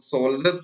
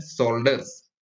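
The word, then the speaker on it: shoulders: इसको बहुत सारे लोग सोल्जर्स पढ़ते हैं, जो कि गलत है, इसका सही उच्चारण होता है शोल्डर्स।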